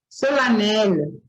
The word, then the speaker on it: solennelle: Solennelle também é pronunciado com A, né?